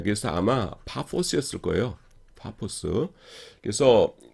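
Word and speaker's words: Paphos: 그래서 바보의 영어 철자를 넣은 것은 한국어 발음이 오해를 일으킬 수 있기 때문입니다. 뭔 도시 이름이 바보냐? 바보면 왔는데 원래는 파포스입니다. 파포스.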